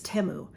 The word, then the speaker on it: Temu: So that is the proper way to say it, is Temu.